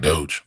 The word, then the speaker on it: Doge: am i saying it right doge that's right doge dogecoin dogecoin doga if you want to invest